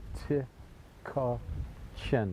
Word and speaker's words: Tykocin: daily travel we're in tachin it's t y k o c i n t chin the C is pronounced like a like a CH and as we're walking